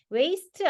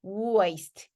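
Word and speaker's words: waist: 되는 거죠 그래서 알아두시고요 자 W 발음이 되게 어려워요 W 뭐 우리는 와 이렇게 얘기하잖아요 근데 더블유잖아요 그래서 우와 이렇게 발음이 돼요 그래서 입술을 모아서 앞으로 내밀어요 그리고 난 다음에 살짝 펼치면서 소리를 내셔야 돼요 그래서 와 그거 아니라 우와 우와 그래서 얘가 워크 워크 워크 웨이스트 웨이스트 아니고 우와이스트 워크 워크 워크 그죠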